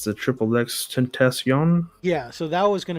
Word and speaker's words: XXXTentacion: It's the Triple X Tentacion.